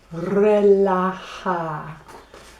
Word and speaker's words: relajar: If I want to relax, I want to relajar.